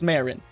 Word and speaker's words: Marin: all text all right I've always called her Marin so I don't know if there's a debate on how people pronounce that or if I'm going to get roasted but it's Marin I will never forget